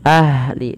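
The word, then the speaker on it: أهلِ: Pada lafal ahli alirkan nafasnya ahli. Dan jangan sampai memantul dalam lafal huruf ha.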